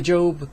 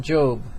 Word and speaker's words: Job: Consider the biblical man Job. It's pronounced J-O-B-E, but spelled J-O-B, who lost everything.